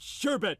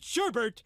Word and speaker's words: sherbet: do not eat sorbet they eat sherbet and they pronounce it sherbert and i wish it